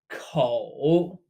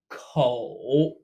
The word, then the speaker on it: 口: 口. Pronounced exactly like coat in English, but without the t. 口.